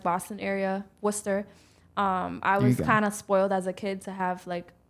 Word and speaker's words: Worcester: Yeah, Worcester. I realized how to pronounce that today.